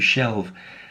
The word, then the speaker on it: shelve: little bit strange because it comes from the noun shelf which again I'm sure you're familiar with but you have to change the the word slightly to make it a verb in this case it's very very similar to the noun half which as a verb it becomes have so to have something